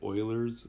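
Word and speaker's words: Euler: Pearland Texas area boiler that's how you say it Oilers constant and it's equal to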